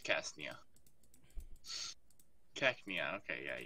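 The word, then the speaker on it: Cacnea: with a crown on said call it Ksenia so yeah that's how you pronounce it yes no it's cast Nia check me out okay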